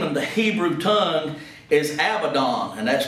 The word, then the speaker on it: Abaddon: pit whose name of the Hebrew tongue is Abaddon and that's spelled a b-a-d-d-o-n but in the Greek tongue